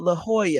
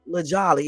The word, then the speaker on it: La Jolla: La Jolla. I always call it La Jolly because I am so dodo birdish. It's not La Jolly, it's La Jolla, even though they spell it Jolla.